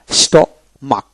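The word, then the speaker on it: stomach: এভাবে উচ্চারিত হবে তারপর আসেন স্টমাক স্টমাক এস টি ও স্ট এম এ সি এইচ মাক তার মানে কি স্টমাক এখানে এইচ বাদ যাবে সি এর উচ্চারিত হবে তারপর হল ট্যাক ট্যাক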